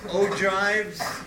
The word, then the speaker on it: ogives: okay ogives which is how that's pronounced and percentiles so you remember that we